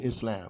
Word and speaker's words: Islam: And notice there's a lengthening of the L in Islam, but we don't spell it like we should if we really want to get precise pronunciation. And you'll see some books, they'll spell it I-S-L-A-A-M, right? Islam, right? But we, a lot of times, just say Islam.